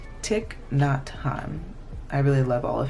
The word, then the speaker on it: Thich Nhat Hanh: Thich Nhat," oh my gosh, I always say his name wrong. Thich Nhat Hanh.